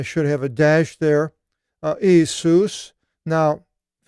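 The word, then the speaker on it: Ἰησοῦς: But it is what it is, so now you know it's Jesus, Isus, as his name in Greek, and the rest of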